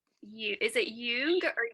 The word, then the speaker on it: Jung: How do you actually pronounce you? Is it Jung or Young?